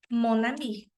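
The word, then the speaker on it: mon amie: amiga começa com vogal Então como é que vai ficar monami profe mas o é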